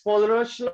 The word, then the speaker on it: Kohlrausch: So only the name pronunciation is difficult. Law, it's Kohlrausch law.